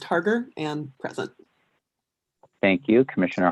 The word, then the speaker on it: Harger: It's pronounced Harger and present.